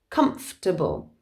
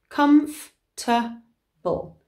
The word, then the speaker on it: comfortable: for example we spell it comfortable but we pronounce it comfortable comfortable comfortable chocolate okay so spelt chocolate but said